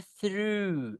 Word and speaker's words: through: Berarti saya suka sih melalui kalau melalui just say through is a through ya through. GH-nya enggak dibaca nih.